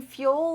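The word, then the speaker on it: Fül: I am using Fuel Luggage, F-U-L. U is spelled with an umlaut, like German.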